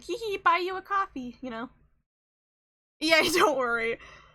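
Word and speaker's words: Ko-fi: It is pronounced like coffee. Um I think sometimes it's just easier to say Kofi when you're talking about the website.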